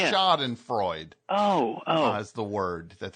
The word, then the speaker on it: Schadenfreude: Schadenfreude? What? Well, that's how they pronounced it, but I thought they meant Sean and Freud.